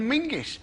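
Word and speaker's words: Menzies: Ginger bger it's a in fact you should pronounce it John mingis apparently it's to do with a defunct Scottish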